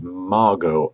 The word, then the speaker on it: Margot: which Mrs Asquith replied the t is silent as in Harlow an exchange which is